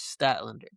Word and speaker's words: Statlander: um, and uh, Statlander versus which I was mispronouncing last time. I apologize. It is Statlander, Chris Statlander, and Isa Don who is a former WWE tag team champion.